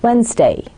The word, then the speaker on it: Wednesday: well my dear students the exact correct pronunciation standard pronunciation would be Wednesday Wednesday I repeat Wednesday however when a Pakistani